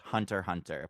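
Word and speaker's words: Hunter × Hunter: hunter the 2011 series it's technically pronounced just hunter hunter but there's an X in there yeah but like I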